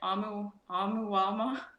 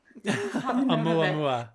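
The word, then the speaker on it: ʻOumuamua: I'm gonna try and say it. Amuamua. Amuamua. Amuamua. Yeah. Thank you, Carl. I just got done interviewing him a few hours ago. That's the only reason I know how to say it right.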